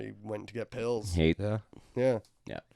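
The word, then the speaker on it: Haight: It's spelled H-A-I-G-H-T, Hate Street. Wasn't there an H at the end? No. Isn't there like a silent H? GHT? Just No. hate.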